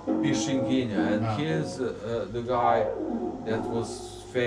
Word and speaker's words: Pixinguinha: Pixinguinha. Pixinguinha. It's written... you don't see that, yes. Pixinguinha.